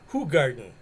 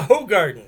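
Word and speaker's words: Hoegaarden: definitely duval yeah like what's the other beer everybody mispronounces uh who garden who garden you go to the bar and everybody say hey give me a hoe garden give me a hoe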